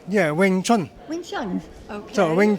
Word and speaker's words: Wing Chun: yeah oh did I say it correctly yeah Wing Chun wi Chun okay so wi Chun is uh